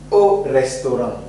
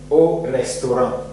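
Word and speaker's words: au restaurant: O restoran. Evet, o restoran. Ne demek? Restoranda. Restoranda. Restoran. Evet. A ve U yan yana gelirse o diye telaffuz ediyoruz. O yüzden burada o restoran diye telaffuz ediyoruz arkadaşlar.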